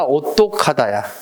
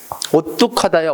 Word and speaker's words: 오뚝하다: 오뚝이야, 오똑하다야. 오뚝하다야, 오똑하다야. 우리 오뚝이 있지, 오뚝이. 근데 오똑하다, 오똑하다. 발음해봐. 오똑하다. 발음해봐. 오똑하다. 오똑하다. 발음하기 힘들잖아. 오라는 모음이 계속 나오다 보니까 발음 힘들어. 그러니까 발음을 자연스럽게 오뚝하다. 되죠?